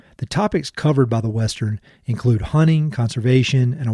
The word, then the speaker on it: Westrn: The name of the project is the Westrn, and that's spelled W-E-S-T-R-N, and it combines the best parts